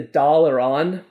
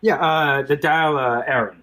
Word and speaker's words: Dáil Éireann: wrong, so James, please correct me, but the Dáil Éireann was formed? The Dáil Éireann, I believe. Dáil Éireann, thank you.